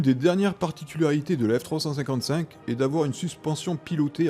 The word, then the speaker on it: F355: La F355 se prononce en réalité F355, ou plus exactement F355 Challenge.